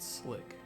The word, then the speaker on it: SLC: where was I even you pronounce it slick what's the Slick version of